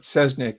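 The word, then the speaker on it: Cesnik: It might be pronounced Chesnik. I think it's more accurately Chesnik, but Sesnik is sort of the anglicized pronunciation in the documentary.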